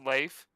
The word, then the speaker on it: Leif: It's pronounced Leif.